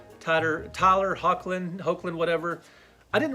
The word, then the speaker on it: Hoechlin: I felt like I had enough Superman stories, and I really didn't care for Tyler Hoechlin. Is that how you say his name? Hoechlin.